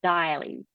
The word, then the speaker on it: Deily: It's Daily.